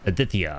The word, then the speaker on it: Adithia: first name and it's Adithia. Okay, that's like Adithia. That's like the Indian way of saying it.